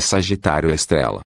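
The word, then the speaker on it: Sagitário A*: centro da Via Láctea o Sagitário a pronuncia-se Sagitário estrela de acordo com as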